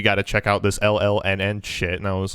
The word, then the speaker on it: LLNN: Is that how you pronounce it? Is it just LLNN? That's literally their name. It's fucking crazy. Luna. Just LLNN.